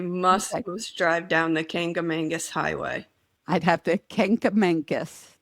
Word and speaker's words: Kancamagus: drive down the Kancamagus Highway. I'd have to Kancamagus. Did I say it right? Yeah. Okay, I got it. The Kancamagus Highway.